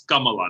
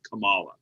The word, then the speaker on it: Kamala: by the way manisha it's kamala not kamala the way she pronounces it she doesn't say kamala